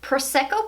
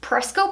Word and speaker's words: Prosecco: is the one in Prosecco pop I always mess that one up I don't know why I say preska pop but it's Prosecco pop I don't know I've